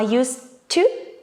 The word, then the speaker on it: used to: common mistakes regarding pronunciation whether we have ed or not doesn't actually make any difference because d is silent so the pronunciation will be the same we connect use with two i used to i didn't use to